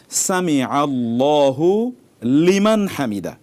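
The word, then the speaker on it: سمع الله لمن حمده: পড়তে হবে পড়তে হবে সামিয়া আলাদা শব্দ আল্লাহু আলাদা শব্দ লিমান আলাদা এবং হামিদাহু আলাদা কিভাবে পড়তে হবে সামি আল্লাহু লিমান হামিদা সামি আল্লাহু লিমান হামিদা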